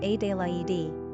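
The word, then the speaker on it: Adélaïde: Adelaide is also the French spelling rendered as Adelaide and pronounced A-de-la-e-de.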